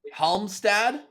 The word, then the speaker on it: Halmstad: Last pronunciation, Halmstad?